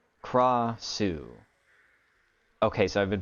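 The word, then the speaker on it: Krasue: it's pronounced Krossu. Okay, so I've been pronouncing it correctly? Krossu. You don't flick the R.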